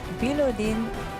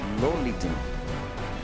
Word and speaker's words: Bilolidin: Bilodin Mahmadali Zoda. You jumped one syllable. Bilolidin.